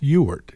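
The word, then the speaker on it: Ewart: generally won't share with anybody because they all mispronounce it it's ewert e-w-a-r-t and carolyn found today that that means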